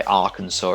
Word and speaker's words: Arkansas: to trip you over i don't know why arkansas is pronounced this way but then you have kansas